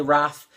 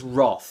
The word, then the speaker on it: wrath: when British people say wrath because it's just an americanism it's Roth okay I don't spell